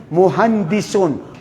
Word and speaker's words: مهندس: Hindi nila ma-pronounce yung sin muhandisun.